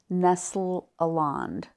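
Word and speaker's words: Nestle-Aland: to the mastic text and to the 27th Nestle aland is that the right way to say that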